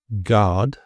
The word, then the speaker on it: guard: So the U is really just there for spelling and clarity. It's not for speaking, as these examples show. So guess, guitar, guard, guest, and biscuit.